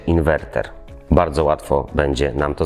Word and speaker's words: inwerter: Lekcja dotyczy podstawowych błędów leksykalnych dotyczących fotowoltaiki i tutaj jako pierwszym sztandarowym przykładem jest błędna wymowa słowa inwerter. Część społeczeństwa wymawia to jako inwenter. Poprawna forma tego słowa to oczywiście inwerter.